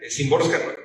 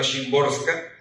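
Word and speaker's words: Szymborska: Bueno, yo quisiera que cuando se pronuncia simborska, que creo que no lo digo bien, pero que suene bien en el audiolibro, creo que es más cercano a Shimborska.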